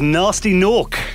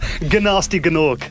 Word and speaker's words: Gnasty Gnork: But no, it was Nasty Nork. Gnasty Gnork, actually, spelled with G's. Wow.